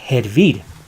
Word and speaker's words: hervir: in this next example, hervir. They pronounce it in the rest of Latin America and in Spain, hervir, hervir, but we say hervir, hervir. Hervir with a J, which is pronounced as a H.